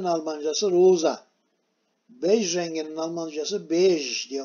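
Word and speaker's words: beige: Şimdi leylak renginin Almancası lila, pembenin Almancası rosa, bej renginin Almancası bej diye okunur. Bu burada bayge gibi oluyor tabi, Almanca okursak bayge diyesimiz gelir de Fransızcadan geçme bu kelime, buna bej diyoruz.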